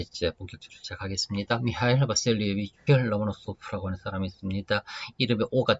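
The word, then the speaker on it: Ломоносов: 미하일 바셀리에비치 로모노소프라고 하는 사람이 있습니다. 이름에 오가 되게 많지요. 로모노소프에서 오가 4개나 있습니다. 우다레니라고 하는 액센트는 세 번째 오 여기 지킨답니다. 그래서는 실제 발음은 로마노소프라고서는 그렇게 될 거예요.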